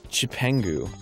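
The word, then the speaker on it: Cipangu: But in the Chinese, Marco Polo came back from China with the characters for Japan, which is pronounced in the Chinese, the original Chinese, Chipengu.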